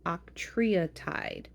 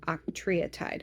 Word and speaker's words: octreotide: So the first medicine that they do offer for treatment, it's called octreotide. Okay, octreotide. I had to look up how to pronounce it and had to listen on how it's pronounced.